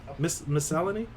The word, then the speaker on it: miscellany: Miscellany? How do you pronounce that?